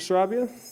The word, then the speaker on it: Sarabia: My name is Sarabia, and I am a first-year student at Elmhurst University.